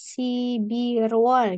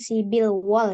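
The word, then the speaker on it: 십일월: ya Jadi sibil sibiru tapi r-nya naik ke atas sibirwall jadinya bukan sibil wall ya ini dibacanya kemudian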